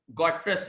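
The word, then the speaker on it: Guterres: से इनका ताल्लुक है, तो इनके नाम की प्रोनाउंसिएशन पुर्तगाल में एक अलग है, एंटोनिया गॉट्रश कुछ है, मुझे चूंकि पुर्तगाल नहीं आती तो मैं नहीं बता सकता, लेकिन इंग्लिश में एंटोनियो गॉट्रस इसको पढ़ा जाता है।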